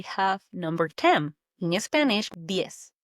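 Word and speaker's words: diez: D. D I E Z. D. It's quick. Almost like you're saying yes, but with a D in front.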